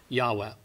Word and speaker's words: Yahweh: h sound so uh reading from right to left w h y h w h yahweh we figure that's about as close as we can get to the pronunciation now the king james